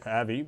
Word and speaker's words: Avi: came in november when av loeb or avi depending on how you pronounce his name the head of astronomy